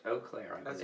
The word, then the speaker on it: Eau Claire: It's in Eau Claire, Wisconsin. Is that how you say it? Eau Claire is how it's pronounced. Eau Claire, I believe.